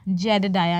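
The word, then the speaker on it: Jedediah: तो फिर यह कह रहा है नेम्स जेडडाया। Name is जेडया। इसका प्रोनाउंसिएशन क्या है? जेड डाया। डाया एच का हल्काफुल्का साउंड आ रहा है।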